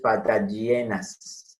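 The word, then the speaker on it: Patagioenas: Patagienas. Cayenensis. Fíjense, G con I, G. O con E, E. Entonces, patagienas. El acento está en la penúltima sílaba que es E.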